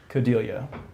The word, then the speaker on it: Codeglia: said David and James Cody liya hai hey how's it gone is that the right plan NLCS of lovely yeah rhymes with familia ok good it's a